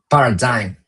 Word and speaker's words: paradigm: I don't know how to pronounce this, but I paradigm like dime in the end. Where are the vogals here? It's missing. Paradigm.